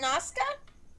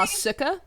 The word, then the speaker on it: Nausicaa: How do you pronounce it? Noska?